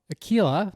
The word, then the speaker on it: Aquila: Watson, and Mark is the founder of Aquila.